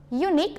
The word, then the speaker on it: unique: Ketika kita melihat secara written way ya nak ya, tulisannya adalah U. Tapi ketika kita pronounce unique, oke, bentuknya adalah U, unique gitu ya. Maka menggunakannya bukan ununique but a unique.